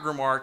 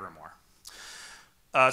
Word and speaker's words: grimoire: So, what is this about a Hacker Grimoire? So first of all, I'm a definitions man. Let's talk about grimoire. I love pronunciation words. I couldn't tell you what that says, but I've been told it's grimoire.